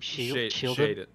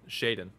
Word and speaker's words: Shiden: Shieldon? Shaden.